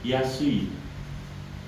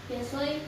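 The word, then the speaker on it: 安い: Yasoi, murah. Yasui, murah. Yasoi, Yasui, yasoi. yes, yasui.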